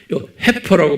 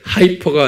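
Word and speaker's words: heifer: 송아지 우리말이 정확한 겸 영어로는 이렇게 해퍼라고 그랬어요이 I f에 해퍼라고 발음을 하는데 하이퍼가 아니고요 헤퍼라는게 뭐냐면 송아지인데 새끼를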